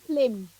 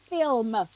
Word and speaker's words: film: You said flim. It's Yeah, not a flim. It's film.